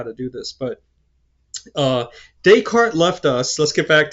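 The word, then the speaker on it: Descartes: You know, his name is Decart. I know there's an s at the end, but you don't pronounce it. Just daycart.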